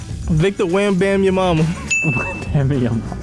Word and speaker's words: Victor Wembanyama: Victor Wembanyama.